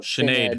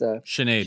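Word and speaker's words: Sinéad: That split decision loss to John Kavanagh's sister, I always mispronounce this. It's not Sinead. It's Sinead. Sinead, you're Irish. You would know. Yeah. Sinead Kavanagh.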